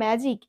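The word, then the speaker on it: magic: তো এখানে এই যে ওয়ার্ডটা আছে না ম্যাজিক, এখানে ভালো করে তোমরা একটু স্পেলিং করলেই বুঝতে পারবে। দেখো জি এর পরে কিন্তু আই লেটারটা বসেছে। তো সেহেতু আমরা এখানে রুলস অনুযায়ী যেটা বুঝলাম, ম্যাজিক এর জি এর উচ্চারণটা কেমন হচ্ছে? জ।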